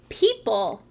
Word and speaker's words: people: This word says people. What do you think about the word people? I think you're right. That's a trap word. That E-O pattern in the middle sounds like a long E sound.